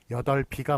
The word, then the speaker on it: 여덟이: 왜냐면 비읍이 그 리을 비읍인데 비읍이 뒤로 넘어가잖아요. 뒤로 넘어가서 연음 현상을 일으키니까 여덟 비가 맞고 여덟 불이 맞고 여덟 배, 여덟 비다.